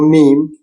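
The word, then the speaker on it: ميم: আমরা শিখবো মিম নাম মিম উচ্চারণ টুট টুট বন্ধ করে ম নাসিকা ধ্বনি আছে না বাংলা যে নাসিকাধনি ইয় ন ম না নাসিকা ধ্বনির মত আর কি এটা এটা মিমটা কিন্তু নাসিকা ধ্বনি বাংলা দুইটা আরবিতে দুইটা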